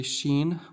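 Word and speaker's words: شين: Next one, when I say sheen, what do you hear? You hear sh- sha shi shu. Okay? Seen is basically an S in English. Sheen is S H.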